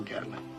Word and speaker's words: Gatling: Technical Sergeant Paul Gatling. Down in Georgia, we pronounce it Gatlin.